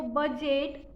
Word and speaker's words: budget: Third one है वो बजट, means BUDGET। एच का स्पेलिंग है EDGE।